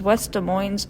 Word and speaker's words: West Des Moines: by the nickname sj and her hometown is west des moines iowa i did not know that's how you pronounce west des moines um she won a